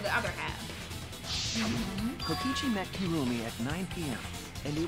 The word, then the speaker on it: Kirumi: wrong this whole time kirumi I've been saying kirami kurumi oh my Lord